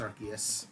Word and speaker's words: Arceus: god or whatever, but the movie was pronouncing it Arceus for the entirety, and I was just like, all right, so it's Arceus.